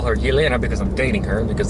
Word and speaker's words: Yelena: If you are Russianly inclined, it's Yelena, and if you're American, you're gonna call her Elena. I call her Yelena because I'm dating her, because that's actually her name.